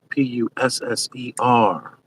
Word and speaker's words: Pusser: well I resent him the Pusser is how it's pronounced no help there uh Steve Ladner Pusser p u s s e r well I just reached